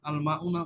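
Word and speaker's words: الماء: আল আল্লাহ মাউনা, আল মাউনা কিন্তু মিমের পরে একালিফ টান আছে, আল মাউ, আল মাউ ওয়াটার।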